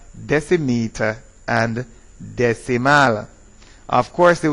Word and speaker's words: decimeter: If the vowel is an A or an O, it is dec. If it is an I or a C, it is des. So it is decameter, decimeter, and decimal.